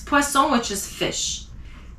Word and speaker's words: poisson: So two S makes the sound S, poisson. So one's poison, which is poison, and the other word has two S and it's poisson, which is fish.